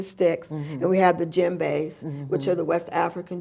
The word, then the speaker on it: djembe: But djembe is sort of like, the word is spelled DJEMBE, DJ.